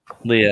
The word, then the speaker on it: Leah: Writer is Leah Williams. Artist is Carlos Gomez. Is it Lee Williams or Leah Williams? Leah. Well, Leah.